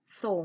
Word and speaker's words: สรง: อะไร อยู่ นะ ครับ นี้ คือ คำ ว่า สรง น้ำ อามา สะกด พร้อม กัน นะ คะ สอง โอ่ง ออ